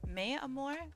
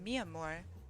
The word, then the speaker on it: Mamore: you thank you ma'am I don't know why I pronounced your name is mayore it's definitely mamore but uh you know